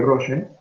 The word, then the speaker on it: Rolle: Escribe Rolle y se pronuncia Rolle.